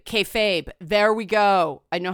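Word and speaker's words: kayfabe: And thank you, the person who said K like okay, Fabe as in babe, K-Fabe.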